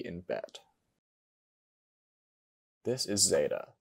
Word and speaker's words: zeta: This is zeta. The Erasmian pronunciation pronounces it like the Z in zero.